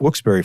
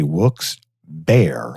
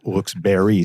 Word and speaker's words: Wilkes-Barré: I will not say who's doing it, but they say Wilkes-Barré like an animal, B-E-A-R. How do you get bear out of berry?